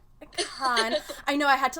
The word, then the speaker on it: Kahan: Kahan. Kahan.